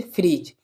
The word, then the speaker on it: fridge: ले लेते हैं जैसे फ्रिज, ठीक है। फ्रिज FRIDGE फ्रिज। तो यहाँ पर भी देखें जो जी से पहले क्या है, डी, तो डी क्या हो जाएगा, साइलेंट, ठीक है।